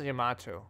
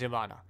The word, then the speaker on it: Yamada: I thought it was Yamato. No, it's Yamada.